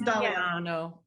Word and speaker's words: Dagliano: That is the correct Italian pronunciation. My family just says Dagliano, but yes, it is Dagliano.